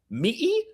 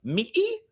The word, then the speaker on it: Mỹ: It's pronounced like ma, Ma? And the best part is that the word for America in Vietnamese uses this tone. Mỹ, God bless, Mỹ.